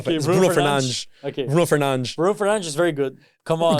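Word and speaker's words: Fernandes: Is it Fernandez or Fernanch? Fernanch. He's good. Bruno Fernan. Bruno Fernanch. That's how you say it. It's more swag that way. Bruno, if if a real football fan if he says Bruno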